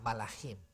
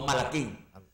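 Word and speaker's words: מלאכים: Ángel se dice malachim. Malachim. Malachim, Sí. ok. No Malaquín. Malachim que, es, la palabra ángel es malach. No melech, porque melech es rey.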